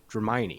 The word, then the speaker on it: Dramione: I can't pronounce anything, but I think I have this one. Dramione.